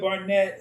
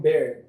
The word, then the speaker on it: Barrett: We're gonna say the famous LeRoi Barnett, who Barrett. Is it Barrett? Nah, I'm pronouncing the name wrong.